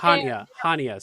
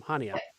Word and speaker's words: Chania: All right, here you are in, I don't know how to say this, Chania? I don't know how to say it. Chania. Okay. Chania. No C. No C. Hania, Sam. Hania.